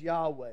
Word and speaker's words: Yahweh: to see in Hebrew there's no vowels in Hebrew it would be the letters y-h-w-h and we pronounce it as Yahweh there's a lot of